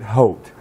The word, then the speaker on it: haute: We are here at Doug Curitan's of Some Men Like It Haute.